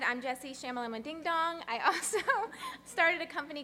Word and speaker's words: Shternshus: It's pronounced Shternshus, and people can just call me Jessie.